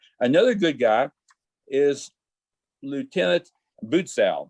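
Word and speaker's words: Butzow: good guy is lieutenant bootsau his name is spelled b-u-t-z-o-w i will be calling him boots out he is a good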